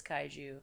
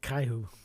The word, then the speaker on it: kaiju: do love the way she says kaiju well I was just going to complain about that so I think she's I think she's Hispanic so she's pronouncing it Caillou Caillou Caillou Jesus the Caillou.